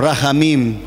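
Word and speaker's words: רחמים: en sus mentes pero la h suena como si fuera una jota pero con la boca abierta rain sí oh rahamin y expresa el sentimiento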